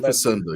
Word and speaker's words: Facenda: John Facenda. I messed up my syllables and got my vowels mixed up. Yes. Yeah. John Facenda.